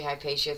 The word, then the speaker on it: Hypatia: Um I I should take this moment to uh mention that I will continue to say hipacia through this episode. That's how most people pronounce it today. The Latin version.